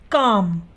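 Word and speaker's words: calm: कॉम तो यहां पर एल किस से पहले ए रहा है एंड से पहले ए रहा है तो इसलिए यहां पर जो एल है वह क्या है साइलेंट है हम क्या बोलते हैं कम बोलते हैं हम कल में तो नहीं बोल रहे हैं ना हम क्या बोलते हैं कम तो यहां पर जो एल है वो है तो लेकिन वह साइलेंट है वह बोला नहीं जा रहा या जैसे सी ओ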